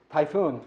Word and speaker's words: Typhoon: i start by saying my name is typhoon and people say what kind of name is that so i say typhoon just like the hurricane right so and then